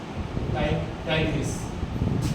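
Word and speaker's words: Tigris: Spelling टाइग्रिस and Euphrates, टिग्रिस and Euphrates, टाइगर है, टाइगर, टाइग्रिस plus Euphrates, ये 2 नदी है, ठीक है, यूफ्रेट्स।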